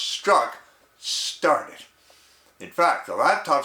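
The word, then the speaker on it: Strzok: special agent or inspector peter s-t-r-z-o-k pronounced struck started in fact the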